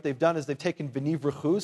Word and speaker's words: venivrechu: We have here, what they've done is they've taken v'nivrechu, say v'nivrechu, and the word brechot, say brechot.